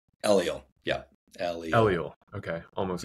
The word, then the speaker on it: Eliel: And once again, how do you pronounce, is it Eliel? Eliel.